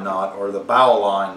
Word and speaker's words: bowline: to tie today the bowline knot or the bow line not or the bowline knot is how I actually pronounce it the bowline knot is